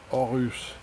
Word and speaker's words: Horus: Look at this, you know, Horus. In French you don't say the H, you know, you don't pronounce it. So, I mean, why write it if you don't even have to pronounce it?